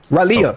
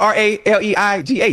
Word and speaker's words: Raleigh: I've been to Ralia.